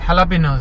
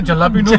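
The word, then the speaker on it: jalapeños: बट तो इस तरह के वाकया जैसे हेलापिनोज है. हाँ, हमारे जलापिनोज बोल देते हैं. तो ये थोड़ा अच्छा, सा काफी टाइम तक तो मैं तो येलापिनोज बोलता हूँ. इट्स नॉट येलापिनोज, हेलापिनोज.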